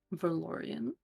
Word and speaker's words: Veran: Veran. Veran. Okay. Okay. Like Valian but oren technically okay.